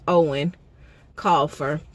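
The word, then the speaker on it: Eoin Colfer: I think that's how they said that's pronounced, Owen Colfer.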